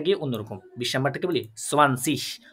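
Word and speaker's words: zwanzig: 20 নাম্বারটাকে বলি সোয়ানসিশ। অনেকে সোয়ানসিক বলে, আবার অনেকে সোয়ানসিশ বলে। প্রোনাউন্সিয়েশন একটু ভিন্নতা আছে, ওটা নিয়ে যাবেন না। আপনারা সোয়ানসিশ যেটা আছে ওইটাই শিখেন।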